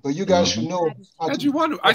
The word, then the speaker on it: Adjiwanou: Adjiwanou.